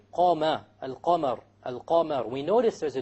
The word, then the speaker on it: القمر: Al-Qamar. So again, we have the moon, the lunar letter, which is the qaf over here. So we pronounce the lam.